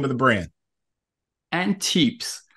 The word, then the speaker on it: antepes: it after you because I may have been pronouncing it wrong so what's the name of the brand and tips and tips that's right and it stands for forefoot in